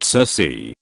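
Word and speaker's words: Circe: circan sir comes from the Greek mother cerse pronounced Cersei a sorceress who would tempt men into her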